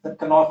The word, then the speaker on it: Knopf: Knopf is the way we pronounce it.